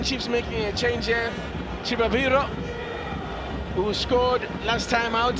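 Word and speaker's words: Chivaviro: And note I'm saying Chibabiro because I've been told that's the proper way of pronouncing that name.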